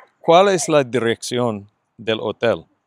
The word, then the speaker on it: hotel: ¿Cuál es la dirección del hotel? Remember, don't pronounce the H.